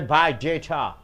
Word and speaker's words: biodata: What do you mean by biodata? See, biodata is a noun. So the first syllable should be stressed. Biodata. So now you are stressing on day.